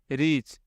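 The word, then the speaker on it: reach: एक वर्ड होता है रिच। जो होता है आर आई सी एच। रिच। रिच means होता है अमीर। और यह रिच मतलब पहुंचना होता है। इस वर्ड में छोटी इ की मात्रा लगता है। रिच। जल्दी बोलते हैं और इसमें थोड़ा खींचते हैं।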